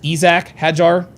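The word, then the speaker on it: Isack Hadjar: the early going that Isaac Hajar uh is going and I don't know if he like he says he likes it pronounced Isak Hajar.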